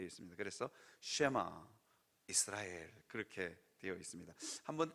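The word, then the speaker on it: שמע: 아멘 오늘 설교 제목이 세마 이스라엘입니다 이게 발음이 쉐마 이렇게 해야 되는데 너무 히브리 원어로 읽으면 여러분들도 듣기 거북하고 저도 사실은 어 그대로 할 수가 없어서 쉐마 이스라엘 아주 유명한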